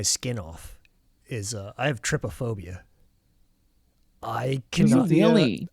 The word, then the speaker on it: trypophobia: I can't pronounce that tryptophobia. trypophobia.